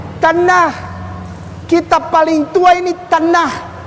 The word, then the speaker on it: Tanakh: Dibacanya Tanakh. Tanakh.